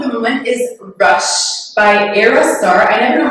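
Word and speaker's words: Ayra Starr: My song of the moment is Rush by Aerostar. I never know how to pronounce her name. Is it? Because there's a Y, right? Yeah, it's like Era, but like it's A-Y.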